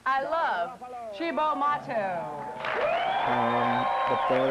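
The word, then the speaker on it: Cibo Matto: I think you pronounce it Chibo. Here is a band I don't just like, I love. Chibo Mato.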